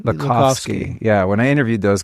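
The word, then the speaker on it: Lakhovsky: Lac Lakovski. Lakovski.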